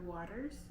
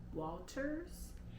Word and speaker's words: Walters: how I learned about Monica Walters not Waters Walters and Okay so a